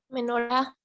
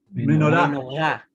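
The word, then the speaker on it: מנורה: Menorá. Menorá. Muy bien. ¿Ya? Con acentuación en la última sílaba, igual termina con una cap, con una kamatz, ¿cierto?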